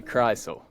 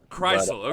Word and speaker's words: Krisle: No, it's actually Krisle. Krisle, okay, gotcha.